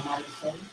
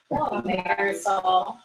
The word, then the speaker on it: Marisol: Hello, I'm Marisol. Speaking to the mic. Still Marisol. Is it Marisol? Is that how you say it? Yes. Marisol.